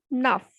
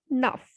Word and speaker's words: neuf: Because in my previous video, I told you that when a word ends with consonant C, F, or L, then it will be pronounced completely. So the pronunciation will be nuff.